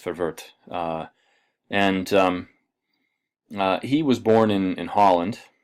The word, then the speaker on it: Verwoerd: And the Native Affairs Minister under Malan was a fellow named Hendrik Forvert. And Forvert is actually worth looking up. You spell his name Verwoerd. It's pronounced Forvert.